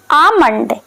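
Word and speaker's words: almond: बादाम को हम इंग्लिश में बोलेंगे आमंड। आमंड, क्योंकि इसमें यल साइलेंट होता है।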